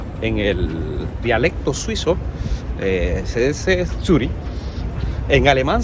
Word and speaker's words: Zürich: Tenían una aduana que se llamaba Turrikun, y en el dialecto suizo se dice Zürich. En alemán se dice Zürich porque la C y H suenan como J.